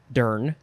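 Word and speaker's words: durn: You could also spell it dern and pronounce it dern, D-U-R-N.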